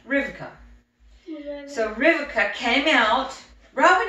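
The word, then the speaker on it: Rivka: 14 or so came out her name was rebecca but it's pronounced riverka in hebrews say you say it like rivika so riverka came out robert he's saying this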